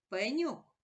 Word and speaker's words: Пеньок: твердий позначаю однією рисочкою давай поставимо наголос у слові Пеньок Пеньок наголошений голосний о наголос падає на другий склад Порахуй скільки букв у